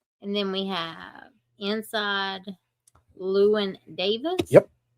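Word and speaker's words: Llewyn: And then we have inside Luen Davis. Yep, I said it right. Woohoo. Inside Luen Davis.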